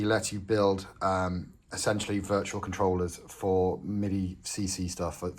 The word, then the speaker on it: CTRLR: I believe that's just supposed to be pronounced controller, so we're just going to call it controller moving forward.